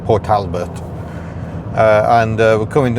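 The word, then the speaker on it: Port Talbot: That is how you pronounce it. Port Talbert.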